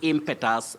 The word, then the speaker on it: impetus: e t you s many people say impetus because of that letter e back letter e K yes the short o pure vowel sound e impetus impetus that it must be in a surprise Betty not impact the way we commonly say locally and when we